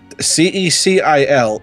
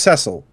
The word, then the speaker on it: Cecil: edition pronounces it as cecil so it's whatever the hell you want it to be apparently well i'd always say cecil because sounds like it would be french i mean hello my